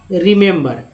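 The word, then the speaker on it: remember: रिमेंबर में 3 ई है, आप देख रहे होंगे 1 2 3 ई, तीनों ई का उच्चारण अलग अलग होता है। जैसे पहला आर के साथ जो ये है उसका ई के रूप में, एम के साथ है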